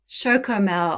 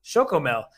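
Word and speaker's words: Chocomel: special brand in Holland shokomo oh sorry I I my apology is to all Dutch people nobody else could hear the producer you're correcting our pronunciation there I'm just gonna pretend it's a Yoo-hoo because it gives me you know flashbacks literally Big Daddy uh but no it's a shokomel and Niche Geary he's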